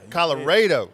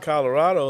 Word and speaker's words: Colorado: Texas so I so I messed up the pronunciation didn't I Colorado you have to say it and that's how the locals know if you're from that area cuz if you call it Colorado like it's spiled then they say okay this